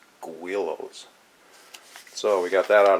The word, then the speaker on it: Guillows: so first off you know I know it's pronounced Willows that is pronounced Willows I call it Gillis because that's what we called it at the